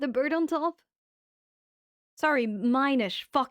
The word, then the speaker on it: Minish: Minish. you. Whatever. Whatever, man. This is so good. Whoa. I use this letter in my language. Min. Oh, wait. Sorry. No. Minish. Minish. Like mini. Miniature.